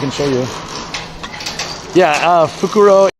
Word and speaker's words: fukuro: show you yeah uh fukuro is bag and fukurou with an extra u at the end is owl so this was uh